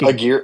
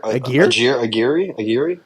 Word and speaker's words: Aguirre: Nick Aguirre. Aguirre. It looks like Aguirre, but Aguirre.